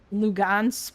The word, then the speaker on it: Luhansk: Oh, also, somebody said above that people were saying like Lugansk because the G is pronounced like H.